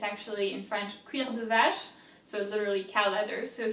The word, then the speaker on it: vache: Va, V-A, that's really easy, right? Va, sh, C-H is sh.